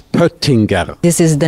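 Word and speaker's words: Pöttinger: and poer who is potina who is buttinger so it's difficult because uh we use one um one letter that is not really common in international languages uh but the right pronunciation is peringer this is the name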